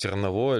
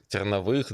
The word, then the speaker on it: Терновых: Как правильно говорить, Терновой или Терновых. Терновых, да, потому что у тебя в разных местах там...